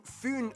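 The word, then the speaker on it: Fyn: it is connected to foon island not finn island by the great belt bridge completed in 1998.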